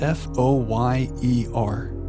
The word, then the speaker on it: foyer: Alexa, pronounce F-O-Y-E-R. Okay, here's pronunciations. It is pronounced as foyer.